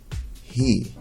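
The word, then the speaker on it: היא: a word in english again the alif is silent try it he it means she and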